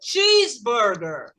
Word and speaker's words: cheeseburger: E a palavra que vai ser mais forte vai ser a primeira, porque vai para cima. Cheeseburger.